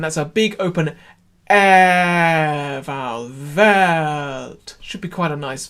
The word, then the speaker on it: Welt: sing it, Welt, Welt, you can get the note on the voiced V. Welt. So just sing the chord for me on V. Ready? That's it. And now just the same thing, but Welt. So the E comes on the downbeat and the V is just before.